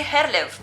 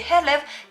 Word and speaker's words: Herlev: this one here and i used to say herlev because well it's so easy to think it you would just say herlev but then again if somebody calls me oh hey i have a package for you where should i deliver it and i say hello they normally would understand hello yeah this i know